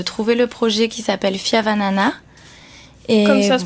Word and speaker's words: Fihavanana: Donc il suffit de se connecter sur la plateforme et de trouver le projet qui s'appelle Fiavanana. Et comme ça se prononce, voilà. Fiavanana.